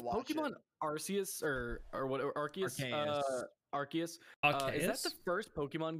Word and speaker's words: Arceus: arceus or or whatever arceus is that the first pokemon game where the kids people actively try to hurt the trainer i was pronouncing arceus apparently it's arceus i got an ad